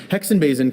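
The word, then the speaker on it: Hexenbesen: Hexenbasin can appear as a broomlike mass in many different types of trees, including oak, cedar, pine, and juniper.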